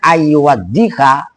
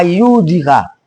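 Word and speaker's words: أن يوضح: Maka cara bacanya ayyuwaddiha, dotnya ditasdid. Kenapa? Karena ada korena taudhih masdarnya. Ngerti ke pagi? Ntar lu baca apa ayyudika.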